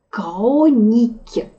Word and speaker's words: хроники: Хроники. Читается именно «к» тут, надо запомнить.